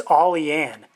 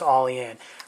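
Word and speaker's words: Olean: York I believe it's all e Ann as it's pronounced my New York brethren can correct me on that if I'm wrong I believe it's all in but very very sharp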